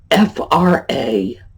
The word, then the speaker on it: fracas: Next, F-R-A-C-A-S. It's a disturbance, an argument, a disruption. What do you think? Fracas. You'll hear a lot of people pronounce it fracas. I knew someone, college educated, bright person, habitually pronounced it fracas and used the word frequently.